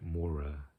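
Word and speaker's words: Maura: but but initially um I'm I do like Mora um that's how you pronounce her name and I think she's kind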